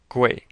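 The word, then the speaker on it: 贵: to pronounce this is it sounds like the word way like which way to Boston with a g in front of it gu but more accurately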